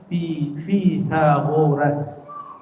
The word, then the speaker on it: Pythagoras: Oke, yang umum, yang belajar matematika, pernah dengar Pythagoras? Pythagoras? Bacanya sebenarnya Pythagoras.